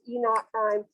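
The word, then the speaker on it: E°′: this e naught prime that e o prime that's pronounced e naught prime that's a measure of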